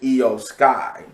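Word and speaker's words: Iyo Sky: She is Io Sky.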